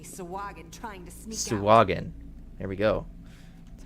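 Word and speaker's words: Sahuagin: Sawagin. There we go. That's how it's pronounced.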